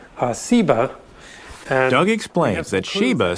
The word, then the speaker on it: Seba: also a related term a term that most scholars think is related that has just a different s sound seba and ugly explains that